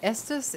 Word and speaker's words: Estus: to do this estes rhymes with nessus this is stonk souls